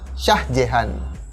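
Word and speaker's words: Shah Jahan: lanjut biar lebih singkat dalam Bahasa Urdu sang Kaisar ini lebih sering dilafalkan dengan nama Syah Jihan Nah biar gampang untuk pelafalannya kita ikut bangsa Urdu untuk penyebutan nama sang Kaisar ini kita sebutnya sebagai sajian ingat namanya saja nah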